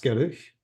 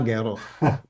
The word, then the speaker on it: Geruch: Das Gerücht. Das Geruch. There is no Umlaut. Geruch.